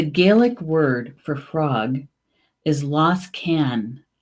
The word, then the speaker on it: Losgann: Okay, so the Gaelic word for frog is Losgann. Losgann. The Gaelic word for frog is Losgann.